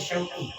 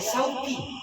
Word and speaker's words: Syauqi: Terdiri dari huruf Shin, Waw, Qaf, dan Ya. Kalau tepat pengucapan nama saya mengandung doa kerinduan. Wow. Jadi judul lagu itu. Tapi banyak teman-teman saya, termasuk tadi ibu-ibu di masjid TSD, manggil saya Sauki, pakai sin.